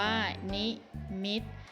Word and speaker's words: นิมิต: คะ ต่อ ไป ค่ะ นี้ มิด อ่าน ว่า นิมิต หมาย ถึง เครื่อง หมาย